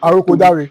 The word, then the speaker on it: Awoniyi: And if you If you study this guy's profile, Tolu Awoniyi, Awoniyi, Awoniyi, I don't know how to pronounce his surname. Awoniyi.